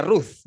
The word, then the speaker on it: Ruth: Root.